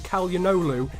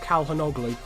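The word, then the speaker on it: Çalhanoğlu: i do believe now i got told that his name is calyanolu in the last episode not calhonoglu but as you can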